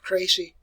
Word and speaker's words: Crécy: All right, I'm going to pronounce these for you. It's called Crécy.